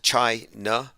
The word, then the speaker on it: China: mainstream media is that trump's bizarre pronunciation of china he calls it chai na or china he always pauses between and he has a very peculiar well anyway they think this